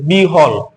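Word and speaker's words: বিহ্বল: কিন্তু এখানে বসে যে বিহল এই যে ব এখ এখানে বসেছে এখানে কিন্তু বটা আমরা উচ্চারণ করি না এটা উচ্চারণ করি এইভাবে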